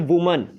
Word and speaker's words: women: तो MEN मैन, MEN main, और WAMN इसको कहते हैं वुमन। वुमेन नहीं कहते, वुमन कहते हैं। एंड WOMEN इसकी काइंड ऑफ प्रोनाउंसिएशन होती है वीमिन।